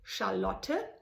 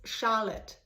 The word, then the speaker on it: Charlotte: It's called in German Charlotte, but if you now pronounce it in the US or internationally, it's Charlotte. To me, that are 2 different names.